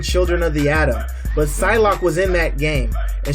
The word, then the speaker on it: Psylocke: Yeah, Psylocke. Psylocke.